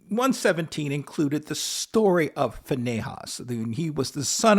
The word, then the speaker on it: Phineas: included the story of fahas some pronounce his name as Finas but we'll go with FAS for now um um just just